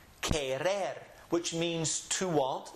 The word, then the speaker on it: querer: And anytime you see the Q-U-E, pronounce it as if you're saying in English, ke. Here are two words over here. Yo quiero and querer.